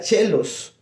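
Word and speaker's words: caelis: Entonces, por eso es que cuando decimos Pater Noster qui sincelos, entonces, en latín se escribe caelus, pero se pronuncia chelos.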